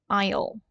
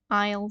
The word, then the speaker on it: aisle: the pron iation right Isle s is not pronounced it's Isle Isle seed Window Seat is of course next to